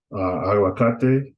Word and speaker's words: aguacate: Aguacate, that's three syllables. So the emphasis is going to be on ka, right?